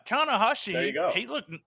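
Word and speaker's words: Tanahashi: yeah and tana hoshi look i said it right tana hashi there you go he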